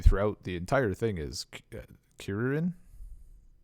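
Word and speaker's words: Kuririn: He was referred to throughout the entire thing as Kirin. Kirin. It's not it's not Krillin. And, Yeah, that's closer to that's like how they pronounce it in Japanese.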